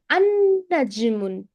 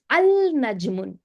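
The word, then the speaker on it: النجم: Why do you say an-najmun? Why you didn't say al-najmun? Why you didn't pronounce the letter lam? Why we don't read the letter lam here? Because Hmm? the noon is Hurfa? Hurfa Shamsu. Yeah, because the noon is hurfa shamsi.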